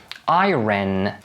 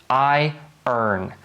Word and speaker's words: iron: to find out that native speakers never pronounce it as iren but instead they say something similar to i earn iron iron strike while